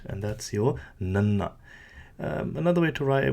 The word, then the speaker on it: ਨ: Now, very easy to pronounce. It's just like your standard N sound in the English language, your nanna.